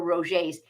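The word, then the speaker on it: Roget: a shout out for Roger's and Rogers is spelled r-o-g-e-t it's a French word um but they have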